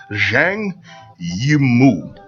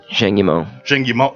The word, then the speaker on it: Zhang Yimou: I can't pronounce it, so I'm gonna go phonetically. Excuse me, I'm just a regular guy. It's Zhang Yimou. Zhang Yimou.